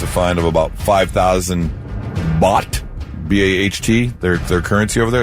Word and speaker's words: baht: Public obscenity, and that carries a fine of about 5,000 baht, B-A-H-T, their currency over there. Is that how it's pronounced?